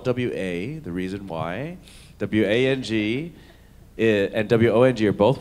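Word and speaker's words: Wong: W-A-N-G and W-O-N-G are both pronounced Wang, but W-O-N-G is southern China, W-A-N-G is central and northern parts of China.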